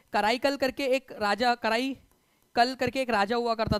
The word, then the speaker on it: कराईकल: चोलास थे उनका राजा, करिकल या कराईकल जो भी आपका प्रोनाउंसिएशन करना है आप लोग कर सकते हो, कराईकल उसका जो है करेक्ट प्रोनाउंसिएशन है।